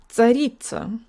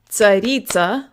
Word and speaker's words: царица: It's not tsaritsa, like we might say in English. English has a lot of secondary stresses, so to the Russian ear, it sounds like almost every syllable is stressed.